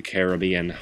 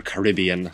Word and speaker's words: Caribbean: from Pirate to the Caribbean or Caribbean depending on how you say it and oh this thing